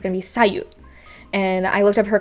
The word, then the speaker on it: Sayu: and simple uh again the intonation doesn't have to be in the second syllable if it's anywhere it's the first and it's going to be sayu and i looked up